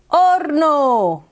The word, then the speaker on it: horno: And then over here, something's cooking in the horno. Oven, horno. Oh yeah, I know. Do you see the H? Not pronounced en español. Horno.